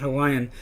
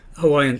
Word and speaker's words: Hawaii: of the vowels and some people pronounce it I where you kind of articulate both vowels but you're blending them together more and this is really